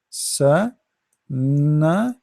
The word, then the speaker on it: سنة: Start with letter by letter. Sa, na, san, and then ta. This is ta marbuta, ta light ta. So sana. Remember the ta, we don't say sanat.